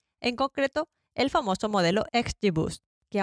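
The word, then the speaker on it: XGBoost: concreto el famoso modelo xbus que aunque Es un poco difícil de pronunciar yo os lo dejo escrito en las notas del programa se escribe xg b o o s t xg bost y pronto Incluso le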